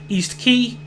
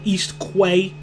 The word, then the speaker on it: East Quay: station which is um east key or as I would have pronounced it when I was younger east Quay six the platform is